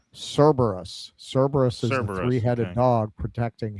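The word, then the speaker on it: Cerberus: Uh, Ava Session, it's pronounced Cberus.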